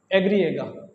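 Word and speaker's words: i griega: वाई को हम Spanish में प्रोनाउंस करते हैं एग्रिएगा, एग्रिएगा या ये, दोनों तरीके से इसे हम प्रोनाउंस कर सकते हैं, एग्रिएगा या ये।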